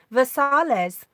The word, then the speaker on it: Versailles: We have a town called Versailles, but we don't pronounce it like the French. We say Versailles.